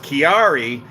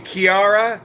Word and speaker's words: Ciara: day at london heathrow it's pronounced chiari see every time i mispronounce something everybody has 6000 different pronunciations of how it's supposed to be pronounced it's all everything on the internet says sierra or ciara and you guys are saying kiara kiara anyways the the storm